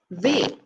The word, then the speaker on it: ve: Next we have ve. Or uve is an alternative pronunciation, but most people I know say ve.